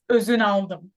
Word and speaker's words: Ozunaldim: It's Ozunaldim.